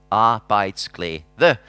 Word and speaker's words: Arbejdsglæde: If you're wondering how to pronounce it, it goes like this. Arbejdsglæde.